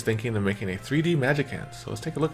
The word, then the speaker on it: Magicant: the Japanese um Thea it's definitely a hard C so it's like a k sound so if anybody was